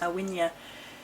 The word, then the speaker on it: Aine: calling it it's a request for the goddess awia spelled a a i n e pronounced awia who is the Celtic Fay goddess of whom